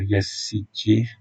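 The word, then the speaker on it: Yazıcı: Mais c'est surtout Under qui est rentré par Yassiti, c'est comme ça qu'on prononce, le joueur de Lille, qui a essayé,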